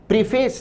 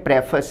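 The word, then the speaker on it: preface: लिए पर्यायवाची है प्रेफर्स इस शब्द का उच्चारण प्रीफेस नहीं है प्रेफर्स है प्रेफर्स या प्रोल का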